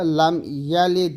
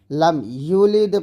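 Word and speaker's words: لَمْ يَلِدْ: তারপরে লাম ইয়ালিদ, এই যে ইয়া জবর ইয়া, লাম ইয়ালিদকে লাম ইউলিদে পড়তেছেন, তো এখানে আছে জবর, আপনি পড়তেছেন কি পেশ, এ ভুলটা করা যাবে না।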